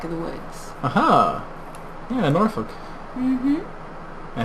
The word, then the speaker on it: Norfolk: the woods aha yeah norfolk i said it right that time didn't it close it should be spelled n-o-r-f-u-c-k it's pronounced norfolk norfolk uh and 64 seems